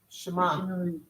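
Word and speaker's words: שמע: Shema.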